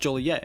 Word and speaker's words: Joliet: Whatever the origin, it was probably initially pronounced Julier and sometimes Jalier until community officials declared it to be pronounced Juliet in the 1830s.